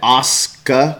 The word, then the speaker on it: Asuka: Hey, Craig Anderson, did I pronounce that right? Asuka.